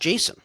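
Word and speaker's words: Jasson: Why is Why is it pronounced Jason?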